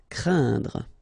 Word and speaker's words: craindre: So it's quite interesting here because you've got this combination of letters, so A, E, and then N, okay, so it will be a nasal as well, and then it will be pronounced like un, so keep in mind that it goes in your nose, so you don't hear any N when I pronounce it, un, and then C plus R will produce the sound cr, craindre.